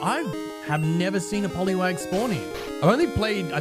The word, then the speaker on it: Poliwag: Uh, I do cuz I definitely used to pronounce it uh differently as a kid. Oh, it's a Poliwag. No, Poliw. No, Poliwag.